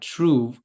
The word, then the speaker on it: Truv: is the CEO at Tru uh that's spelled truv and we'll talk more